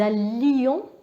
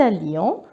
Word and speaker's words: allions: Et rappelez-vous, nous allions. Donc il faut bien prononcer le I, parce que si vous dites nous allons, ça c'est le présent de l'indicatif. Donc nous allions, vous alliez, ils allaient, elles allaient.